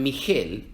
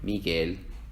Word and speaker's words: Miguel: en el español porque si escribiéramos estas dos palabras sin la u se leerían mi gel y guitarra Entonces cuando se escribe G u e ig ui no se leen y we se leen como en Miguel y guitarra otros ejemplos son guerra